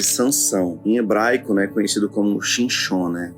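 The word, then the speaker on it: שמשון: Nós estamos aqui nessa passagem, relata aqui a história de Sansão, em hebraico, conhecido como Shinshon, pronúncia.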